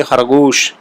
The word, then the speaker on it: خرگوش: اردو میں یہ ہے، فرض کریں خرگوش ہے تو ہم خرگوش، تو یہ انگریزی کا لفظ سو، ایس او ڈبلیو کی طرح ادا ہوتا ہے، لیکن فارسی میں یہ ہی خرگوش جو ہے تو ہم اس کو بولیں گے تو بولیں گے خرگوش، خرگوش۔ دور، روز، اردو میں